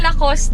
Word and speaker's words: Lacoste: honda outlet yung nag-sale ang lacos ang pronounciation ng lacos dito sa Korea Lacoste temperature check 31° kahapon